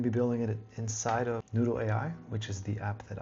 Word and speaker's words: Noudle: That's Noudle, just like it's spelled over here.